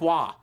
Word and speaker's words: Roy: a special way oh say it like Patrick wah no it's look Duke maybe are you talking